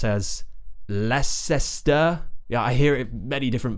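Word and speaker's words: Leicester: have another one which many people pronounce as Lester yeah I hear many different versions of this one but it's just and then we have St at the end Lester leester and this one is famous because we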